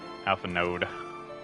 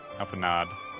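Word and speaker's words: Alphinaud: warmest regards to master alphan no Alpha node alanod I a no think the D is silent all right now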